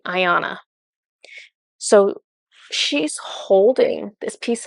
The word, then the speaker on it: Iana: i a n a pretty much like the word Diana but without the D except they were pronouncing it different they're pronouncing it um Ayanna okay I think that's right Ayanna so she's holding this